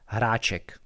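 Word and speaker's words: Hráček: hopefully i can my last name is pronounced harachek it's it's a little bit hard even for checks because there's hara um but yeah um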